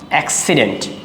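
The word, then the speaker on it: accident: এক্সিডেন্ট এইযে এখানে প্রথম সি যেটা আছে সেটা হচ্ছে হার্ট। হার্ট মানে আমি একটু আগে বলছিলাম হিসেবে উচ্চারণ করতে হবে। আর এখানে সি আরটা যেটা আছে সেটা হচ্ছে সফট সি এর মত সফট সি অর্থাৎ এস এরকম তাহলে এক্সিডেন্ট এক্সিডেন্ট এক্সামপল দেখি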